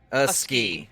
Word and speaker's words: Iske: It's first syllable, second syllable ski. A ski.